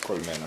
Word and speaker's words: colmena: Colmena. Oh. Columna is a column. Colmena.